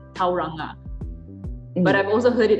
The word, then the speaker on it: Tauranga: i would say many locals kiwis they would use torana because this word is um originated from the tirio maori language so tario is very close to um a lot of